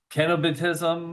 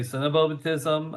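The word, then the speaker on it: cenobitism: Uh it's supposed to be a hard C. So, kenobatism. Uh some people say cenobatism.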